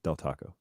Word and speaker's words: Del Taco: then he corrects himself del taco i really appreciate that dell d-e-l yes you're calling it